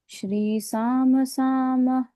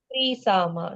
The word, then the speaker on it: त्रिसामा: त्रिसामा सामग सामेति कवचम श्री सामसा ग सामेति कवचम त्रिसामा श्रीसामा नहीं त्रिसा त्रिसामा जो हमने अभी देखा वेद के तीन गुणों के साथ वो त्रिसा त्रिसा त्रिसा त्रिसामा सामवेद के वो तीन गुण है इनके अंदर त्रिसामा